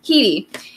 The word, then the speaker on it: Headey: How do you say her last name? Keedy.